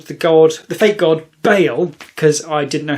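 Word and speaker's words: Baal: god the fake God Bale cuz I didn't know how to pronounce it then found out it was pronounced Bale but ball is funnier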